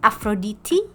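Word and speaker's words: Αφροδίτη: And Aphrodite, which is actually the most interesting of the pronunciations, is actually pronounced in Greek as Aphroditi.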